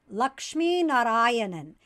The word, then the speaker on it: Lakshminarayanan: language tamil is pronounced lakshmi narayanan and so that's really hard for non-native tamil speakers to say because you kind of have to roll an r you have to put